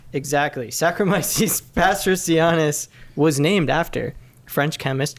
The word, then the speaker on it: Saccharomyces pastorianus: Saccharomyces pastorianus.